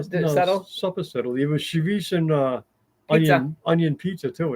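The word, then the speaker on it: chouriço: Charisse is a Portuguese version of chorizo, Yeah, they have which is Cherise. Mexican. They have chorizo down south, spelled the same, but it's not pronounced the same.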